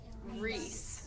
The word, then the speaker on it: Riis: So that's Riis. It's pronounced Reese.